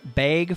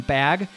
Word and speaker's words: bag: from folks who say I say the word bag funny, and we always thought our southern friends and our cousins said it funny by saying bag, but a long A is just a kind of a Minnesota Dakota's accent coming through.